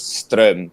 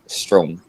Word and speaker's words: Stroem: Well, kapag Norwegian ka, it's Stroem. Pero like, kung hindi, okay lang na Stroem.